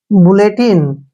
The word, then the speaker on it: bulletin: TI का उच्चारण हम टी करेंगे और N को न पढ़ेंगे। बुलेटिन, बुलेटिन होता है सरकारी समाचार, बुलेटिन सरकारी समाचार,